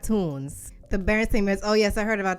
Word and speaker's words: Berenstain: It wasn't Stain. It was Stein. The Berenstain Bears. I mean, I never knew how to pronounce it correctly, but there definitely wasn't no stain.